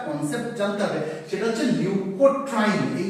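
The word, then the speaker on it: leukotriene: এটা মুঝলাম প্রথমে কি শিখবো বললাম লিউকোট্রাইন কাকে বলে লিউকোট্রাইন অনেকে না এটাকে ভুল করে ভুল উচ্চারণ লিউকোট্রিন বলে উচ্চারণটা কিন্তু লিউকোট্রিন না উচ্চারণটা লিউকোট্রাইন কেন লিউকোট্রাইন সেটা বুঝিয়ে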